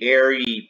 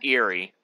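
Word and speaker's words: Aerie: places like what's the airy peak what's that eerie peak it's pronounced eerie yeah i don't know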